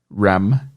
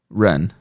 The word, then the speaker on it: run: The reason why that happens is that while in Brazilian Portuguese you do have the letter M at the end of words, it is never pronounced as an M, where you close the lips and you make this nasal sound.